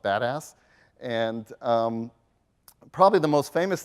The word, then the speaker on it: BDAS: It's abbreviated BDAS, and that acronym is pronounced badass.